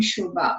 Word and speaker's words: Subha: If not, you can send me an email to my Foothill email address, which is, my first name, Shubha, which is spelled Subha at foothill.edu.